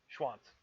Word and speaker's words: Schwanz: anyhow so that is spelled s CH w a n TZ Schwanz schwanz and use it in